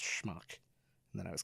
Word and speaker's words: schmuck: I was telling my daughter that it's not pronounced smoke it's pronounced schmuck and then I was called the schmuck that